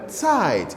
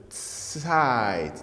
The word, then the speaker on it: Zeit: Remember, our pronunciation of this, the Z is always like this, TS. Ich habe, I'm doing slow motion. Ich habe Zeit. TS, Zeit, Zeit.